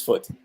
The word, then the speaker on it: foot: and short food foot but look at my lips when i pronounce foot foot foot foot foot yeah there's no rounding of the lips lips are relaxed same here no no